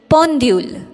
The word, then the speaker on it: pendule: Next is pendule. P E N D U L E. Pendule, which means clock. When you pronounce EN with the prefix consonant P, the